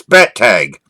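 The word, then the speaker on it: Bettag: And I always tell people it's just two little three-letter words. Put them together. Bet and tag. It's bet tag.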